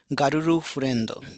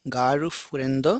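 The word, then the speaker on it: ガールフレンド: It will not be Guru furendo but it will be ga garu furendo and this will be apato course.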